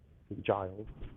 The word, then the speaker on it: St. Giles: St. Giles.